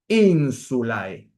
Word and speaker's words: insulae: Insulae. Tenemos que pronunciar el diptongo, pero tenemos que pronunciarlo como diptongo.